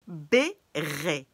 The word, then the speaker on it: béret: béret. Béret. E-T at the end of words is pronounced E.